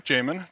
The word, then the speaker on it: Jamon: That is how you pronounce my name, Jamon, just like Jason, but with an M.